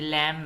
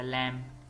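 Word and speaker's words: lamb: date, कर्ज, सब्बल Latif, लैम ये लैम है, इसमें भी बी नहीं पढ़ा जाएगा, लैम, भेड़ का बच्चा, क्लाइम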